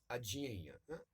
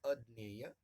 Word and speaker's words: अज्ञेय: सच्चिदानंद पिताजी का नाम, हीरानंद, वात्स्यायन उनका कुल नाम, और उनका उपनाम है अज्ञेय। मराठी में उसका उच्चारण करते हैं अज्ञेय, सही उसका उच्चारण है अज्ञेय।